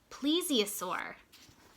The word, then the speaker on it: plesiosaur: Buckland called it tells me how to say it, plesiosaur.